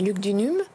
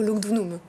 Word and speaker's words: Lugdunum: nouilles ou douze hommes comme on prononce pouvait faire et où en fait le où c'est plutôt une prononciation latine mais c'est luc du num dunums ou lugdunum tout est accepté bon faire c'est parfois